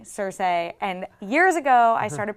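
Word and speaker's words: Cersei: Telegraph to us like Sir say blowing up King's Landing and by the way because I got so much flak for it george RR martin pronounces sir say sir say and years ago i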